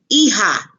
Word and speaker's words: hija: los hermanos daughter la hija remember J makes the H sound la hija hija son el hijo